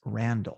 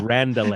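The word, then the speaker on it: Randele: name thomas randall now it's spelled r-a-n-d-e-l-e i'm assuming so that the second he's silent okay i thought it was like a member seinfeld uh vandelay so though this was like randall is it thomas randall but if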